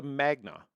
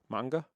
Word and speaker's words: manga: Now, this is a Magna. Is that how you say it? Uh uh no. How do you say it? Manga.